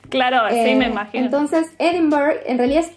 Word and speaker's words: Edinburgh: Es muy importante esto, porque como está escrito, que es Edinburgh, mucha gente le dice así, que es una pronunciación incorrecta.